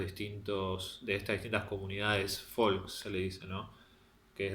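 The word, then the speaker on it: Volk: de conceptos de volcó el alemán se pronuncia folk qué es un concepto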